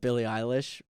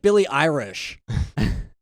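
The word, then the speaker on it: Billie Eilish: like making fun of billy eilish but he was saying her name wrong um and he was saying you sound like billy irish that's so funny hello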